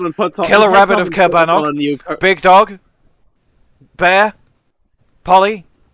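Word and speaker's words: Caerbannog: horse, killer rabbit of Cabanog, big dog, bear, Polly, book, K. Faraday. Are we sure That it's is not correct. Chernabog? I'm fairly certain. I think they pronounce it as Cabanog in the movie.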